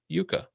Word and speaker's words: Jukka: He spelled it Jukka, but he pronounced it Yuka, right?